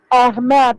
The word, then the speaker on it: Ahmed: Bacanya Ahmed karena pakai segol.